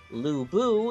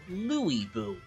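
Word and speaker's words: Lü Bu: Lu Bu is no longer Lu Bu. He is now Louis Bu, which, try as I might, my ears can't get completely used to.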